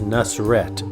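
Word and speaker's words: Nusr-Et: restaurant names in Las Vegas the way you pronounce it is nusret trust me that's the way it's pronounced nusr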